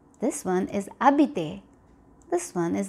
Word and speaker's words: habité: And this word over here is going to be pronounced as horloge. This one is hier. This one is habité.